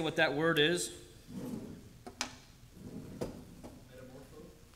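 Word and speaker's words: μεταμορφόω: we think of this word, this Greek word, metamorpho. I'm going to play that word for you, just so you know how to say it, because I'm going to butcher it. Strong's G, 3339, metamorpho.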